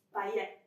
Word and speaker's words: paillette: Sicuramente è una parola francese. Sicuramente non devo pronunciare la T finale, quindi paillette.